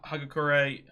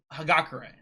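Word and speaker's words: Hagakure: He's he's with people like Sad and uh Kota and Hagakur. I'm pretty sure her name is Hagakare, but I keep saying Hagakur.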